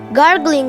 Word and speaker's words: غ: a e e n it sounds like Garling sound how to pronounce the back side of the tongue will touch the upper Thro producing ra sound like garles and then e in sound e